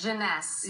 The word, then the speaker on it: Jeunesse: How do you pronounce this? Janness.